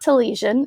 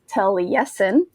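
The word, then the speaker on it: Taliesin: tragedies now last week I told you about tail yesen which that um I basically pronounced it incorrectly um it's not to lesion it's tele-yesin um so I just want to kind of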